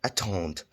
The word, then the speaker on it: attendent: Nous attendons, vous attendez, and elles attendent. As you can see, the ENT is silent, as I've covered that in the ER video.